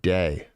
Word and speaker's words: Dag: It's pronounced like the word. Oh, like day. Like the word day. Okay. So it's day.